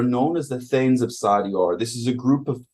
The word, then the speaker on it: Sardior: Sardior, according to the internet, is pronounced Sardior, and was the dragon god of